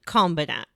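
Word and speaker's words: Kombinat: I thought you were mispronouncing combat at first, but It's actually called Combinat.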